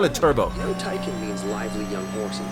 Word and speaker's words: Taycan: No, Taycan means lively young horse in Turkish.